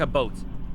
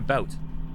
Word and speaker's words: about: sorry about that um a lot of Americans say to me a boat yeah people saying hi you're saying A boat like I'm not saying a boat I'm saying a about so I don't know